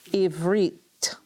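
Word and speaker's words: עִבְרִית: Remember, the schwa brings a syllable to a close, so we have a harik, veit, close the syllable. So Eve, Read. and reet, ivrit, ivrit, ivrit.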